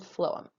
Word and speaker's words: phloem: Two funny words, but that really is how they're pronounced, xylem and phloem.